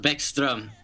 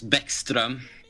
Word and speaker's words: Bäckström: Right, so Niklas Bäckström would be how you pronounce our number 19 first line center. His last name actually means stream, as in river. But yeah, it's Bäckström.